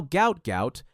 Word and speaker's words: Gout Gout: His family name was originally transliterated as Gua or Guat, but now Gout Gout, pronounced to rhyme with pout, is the name the world knows, and it's becoming one that track and field will never forget.